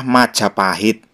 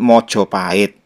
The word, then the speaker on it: Majapahit: benar Majapahit atau Mojopahit kalau bahasa Jawa kuno pengucapannya adalah Majapahit sedangkan bahasa Jawa baru ada dua dialek ya dialek Banyumasan menyebut maj pahit seperti Jawa kuno dan dialek mataraman menyebut Mojopahit tapi itu hanya pengucapan saja kalau untuk penulisannya menggunakan